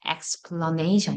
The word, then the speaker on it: explanation: 여기에 강세가 오니까 여기는 내려가면서 이 강세 맞아서 explanation 이렇게 되죠.